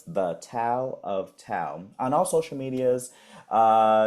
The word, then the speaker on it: Thao: So you can follow me on all social medias at the tow of tow and I'll spell that out for you.